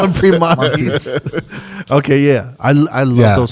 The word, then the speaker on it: Primanti: Wait, how do you say it? Permanis? Permani Brothers, yeah. I used to call it Priamontes. I'm pronouncing it wrong, right? I'm reading it wrong.